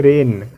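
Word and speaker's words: reign: एक और शब्द है रेन यहां रेन में जी जो है वो एन से पहले है इसलिए यहां भी जी हमारा क्या होगा वो साइलेंट होगा आईटी मिंस की हम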